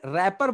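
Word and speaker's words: wrapper: रैपर बोलते हैं तो बट रैपर की इंग्लिश ब्लू से स्टार्ट होती है blue R A double P आई आर बट इसमें रैपर बोला जाता है और डब्लू को साइलेंट कर लिया जाता है टीवी पे आई है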